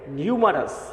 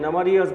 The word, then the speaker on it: numerous: এটা উচ্চারণটা হচ্ছে নিউমারাস। অনেকে নামারিয়াস বলে বা অন্য শব্দ অন্য উচ্চারণ বলতে পারে। এটা উচ্চারণটা হচ্ছে সঠিকভাবে নিউমারাস।